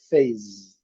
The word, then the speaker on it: face: E a palavra face, o destaque aqui é para não pronunciar a letra E e o S com som de Z. Phase.